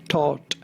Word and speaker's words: Thoth: should be pronounced however the most common way of pronouncing it in english is as though like an oath but with an initial ta so but you will